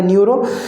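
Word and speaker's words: pneumo: पी मतलब ू मतलब पी फॉर मतलब पी साइलेंट रहेगा न्यूरो और उसका भी परर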